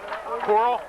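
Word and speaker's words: Corle: have the right man number nine coral pronouncing it wrong coral c-o-r-l-e coral the ball carrier for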